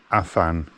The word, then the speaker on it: Afan: Probably going to go to Avan in the morning or Afan is how we pronounce it from the south. I think it's Avan but Avan forest.